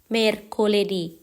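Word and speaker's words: mercoledì: ค่ะ วัน พุธ เรา จะ พูด ว่า Merคลิ Merโคลดี วัน พุธ วัน พฤหัสบดี เรา จะ พูด ว่า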